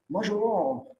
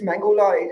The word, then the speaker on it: Mangalam: You talk about French people, they don't know how to pronounce my first name. They're like, Majoron, it's Mangola. I don't know what it is.